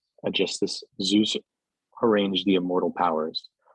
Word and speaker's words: Aegisthus: was first to speak, sorely troubled, remembering handsome Aegisthus.